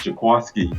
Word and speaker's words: Jaquiski: It's spelled Jaquiski, but they said it's pronounced Jaquiski.